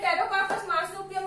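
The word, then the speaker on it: Pterocarpus marsupium: देखो इसमें टेरोकार्पस मार्सुपियम में पी साइलेंट है, पी साइलेंट है टेरोकार्पस मार्सुपियम।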